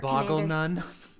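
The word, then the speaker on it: Bolganone: Actually, it's pronounced Boggle Nun. I read it as Bolganon. I know. Okay. I pronounce it as Boggle Nun.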